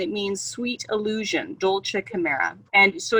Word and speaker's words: Kimera: means sweet illusion, Dolce Kimera. And so it should be spelled with a K, with a CH, like chimera, but chimera. Yep. But the K is just easier.